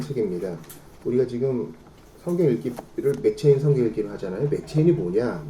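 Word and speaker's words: McCheyne: 우리가 지금 성경 읽기를 맥체인 성경 읽기를 하잖아요. 맥체인이 뭐냐? 맥체인은 로버트 머레의 맥체인 맥인지 미국식 발음되죠. 스코티라는 사람이니까 뭐 케인 해야 될 거예요.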